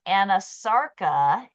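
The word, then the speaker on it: anasarca: okay have to look it up so it's pronounced anasara and anasara is a severe generalized swelling of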